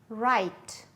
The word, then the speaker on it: right: Knee, knee, knife, knife, knit, knit, wrist, wrist, right, right, wrong, wrong.